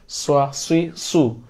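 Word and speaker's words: صُ: সু সৃ স্র সু আর আমি যদি সিন উচ্চারণ করি সাসি সু আর যদি আমি সদ উচ্চারণ করি স্রই সু মুখটা একটু গোল হয়ে যাবে স্রই সুই সু দ্রুত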